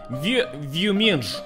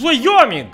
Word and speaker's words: Wyoming: He say, Boris, how do you pronounce this? And of course I said, Вьюминж. And he say, no. It's Wyoming.